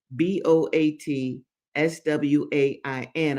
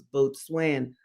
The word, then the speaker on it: boatswain: Now, boatswain is smell- is spelled b o a t s w a i n. I first thought it was boatswain, but it's boatswain.